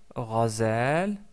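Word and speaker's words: غزال: Razel qui veut dire une gazelle. Ce mot-là commence par le son ra. Ra, c'est le son de la lettre rin associé à la fatha.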